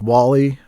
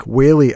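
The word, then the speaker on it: Whaley: that episode comes out Frank Wall-E I called him w-e it's wh I did this in the episode too oh my God I'm such an idiot uh I mispronounce things Frank whey I recorded with uh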